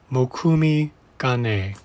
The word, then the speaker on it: Mokume Gane: And again, that's pronounced Mokume Gane.